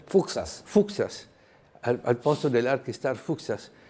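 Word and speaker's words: Fuksas: Da una nuova stazione che rispetto al progetto di Fuxas, come si pronuncia? Fuxas.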